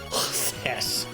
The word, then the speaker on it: χθες: Just one syllable in a song that is 3 syllables. It's not yesterday, it's chthess.